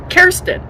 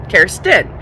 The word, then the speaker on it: Kirsten: And the funny thing about this is was my nickname growing up because Kirsten, that's how you say my name. Kirsten.